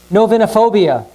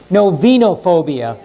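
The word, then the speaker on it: novinophobia: global warming oh nope novinha phobia the fear of running out of wine actually it's no vino phobia i apologize i put put the accident on the wrong syllable okay okay did a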